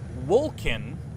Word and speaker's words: Wolcen: your comments I'm playing Vulcan now I am pronouncing it right because it is an old English word for sunless shield that's what I that's